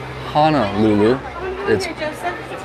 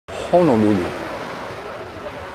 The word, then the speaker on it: Honolulu: the shores of hawaii honolulu honolulu cookie company by the way guys just fyi it's not hana lulu a lot of people still say hannah hanalulu or honolulu nope honolulu i might be a holly